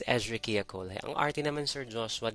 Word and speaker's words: Escherichia coli: Basta yung kasi yung tamang pronunciation. It's Escherichia coli.